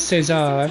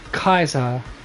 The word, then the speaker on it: Caesar: If you're depending if you're pronouncing it like the as the Hispanic and the Spanish and probably Portuguese way of saying it, or Kaiser as it's pronounced in classic Roman.